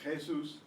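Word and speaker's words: Jesús: Why is it pronounced instead of Jesus? You see the accent mark, you know that's where the stress is.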